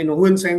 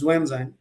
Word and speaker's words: Xuanzang: And since you have mentioned Xuanzang, Huensang, who's now we call it and pronounce it as Xuanzang, two, three things that we need to be cautious about, right?